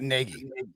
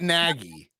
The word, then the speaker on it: Nagy: Matt Nagy. That's right, dude. I've really got to get that out of my mind and say it how you say it. It's not Nagy. It's Nagy. Matt Nagy.